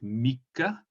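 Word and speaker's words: みっか: So after Futsuka we then have Mika. Please pay attention to the double K.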